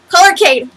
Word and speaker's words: Polarcade: Polarcade. Polarcade. Haha, I got it right. Yay! Polar Cade. Cade. Polarcade. The Polar Arcade.